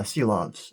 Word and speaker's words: Silovs: know, I see now, Silovs. It's a tricky name, but yeah, Shilovs is the apparently correct pronunciation.